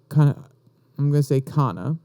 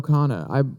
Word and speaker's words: Khanna: And we're going to speak more about Kana, just to make sure. I'm pretty sure that's how you would pronounce it. Mr. Ro Khanna.